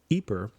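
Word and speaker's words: Ypres: they ended up at a city called eeper in Belgium or if you're using the French pronunciation and in this one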